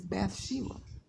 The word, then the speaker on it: Bathsheba: Batsheba. Daughter of Sheba. The American pronunciation for Bathsheba is Bathsheba.